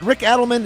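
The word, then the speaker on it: Rick Adelman: Uh is it is it Rick Edelman? Is that the way you pronounce it, Christian?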